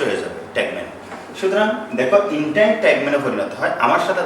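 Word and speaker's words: integument: সুতরাং দেখো ইন্টাইন ট্যাগমেনে পরিণত হয়। আমার সাথে তো উচ্চারণ করবো, দেখো এন্টারটেইনমেন্ট, ইন্টাইন ট্যাগমেন, ইন্টাইন ট্যাগমেন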